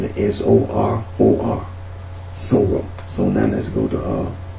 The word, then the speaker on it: soror: So when you say sorrow, it's not a dot. You know, like a syllable break. It's just sorrow.